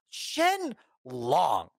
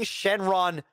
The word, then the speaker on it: Shenron: Shen Long. His name is fucking Shenron. Get it right, you fuckers.